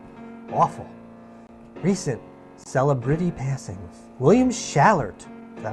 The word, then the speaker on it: Schallert: William Schallert.